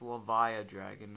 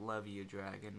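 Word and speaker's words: Levia-Dragon: and i and i am aware that it's pronounced la via dragon not love you dragon but i say love you dragon and i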